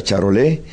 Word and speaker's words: Charolais: de ganado bovino cuyo nombre es charolais se pronuncia charol para lo cual nos